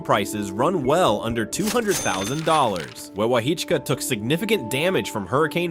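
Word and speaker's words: Wewahitchka: Pronounced Weewaa-Hitchka.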